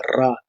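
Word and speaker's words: רע: las letras Ayin y Resh, lo cual se pronuncia Ra.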